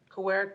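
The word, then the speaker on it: Kawerak: melanie banky and actually the correct pronunciation for the organization i work for is coheric kowarik is a tribal consortium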